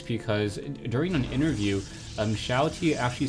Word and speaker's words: XiaoT: during an interview um Shati actually said his name um um stands for small Templar which is sha T So sha meaning small in Chinese so I'm just going